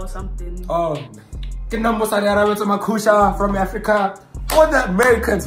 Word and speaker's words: Makhusha: Oh, Musa Arabeta Makusha from Africa.